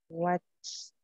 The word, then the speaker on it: watched: And the other one is what is watched con T. Okay, now pronounce the two verbs in the past.